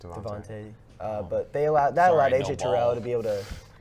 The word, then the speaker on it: DeVonta: I don't know how to pronounce his name. I thought it was just Devontae. Yeah, it's just Devontae.